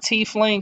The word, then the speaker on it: tiefling: By the way, I said tiefling because I know that's how it's pronounced.